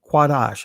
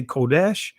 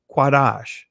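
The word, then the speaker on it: קָדַשׁ: he ordained it so this is the Hebrew word qadash I know some of you guys would say Kesh the actual Hebrew word ancient Hebrew word as you see here is qadash all right now again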